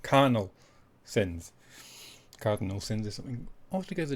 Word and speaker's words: Carnal Sins: Not Cardinal, as I keep mispronouncing it, but Carnal Sins.